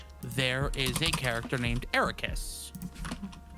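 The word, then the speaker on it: Eraqus: is a character named Ericus. Um and they basically uh it the way that it's spelled is E R A Q U S and almost square backwards.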